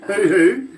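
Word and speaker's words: huhu: What about Let me spell that for you. H-U-H-U, hoo-hoo.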